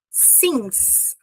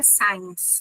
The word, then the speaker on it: since: E desde quando eu vou usar since. Muita gente troca a pronúncia aqui para science. Não. Since 2020.